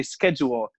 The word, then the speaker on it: schedule: Well, apparently they say schedule, and it's such a strange pronunciation for me, with the phonetics and the spelling of the word. And to me, the appropriate way to say it is Shedwool, and up here no one does.